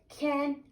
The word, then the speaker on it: can: We say can, the C pronounced as K. We say K, A, can, ne, can.